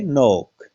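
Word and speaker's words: knock: इसमें देखिएगा केन सी के अन से पहले क्या आया के आया है क्या बोलते हैं नोक इसमें देखिएगा एन से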